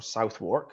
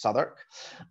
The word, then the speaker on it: Southwark: So our main campus is at Southwark, or Southwark, it looks like, pronounced Southwark.